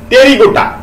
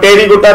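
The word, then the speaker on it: Pterygota: এবং উদর sub class টেরিগোটা দেখো টেরিগোটা পি এর উচ্চারণ হবে না আমরা জানি নিউমোনিয়ায় পি এর উচ্চারণ হয় না সাইকোলজিতে পি এর উচ্চারণ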